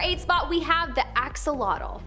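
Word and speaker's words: axolotl: spot, we have the axelottle. There is much speculation as to how to pronounce the name of this creature, but for the most part, most people believe that it is axolottle.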